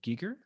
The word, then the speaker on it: Giger: And I've noticed on one of your latest episodes, you went to was it the HR Geeker? Is that how, am I pronouncing his name right? Yeah, Giger, yeah.